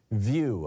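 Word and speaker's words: Vieux: over on Mastodon is Muriel view I believe is how it would be pronounced v-i-e-u-x um and you can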